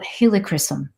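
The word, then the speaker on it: helichrysum: HR Ys u m so I'm like okay helicopter I got that and uh Christen so like christening like and so it's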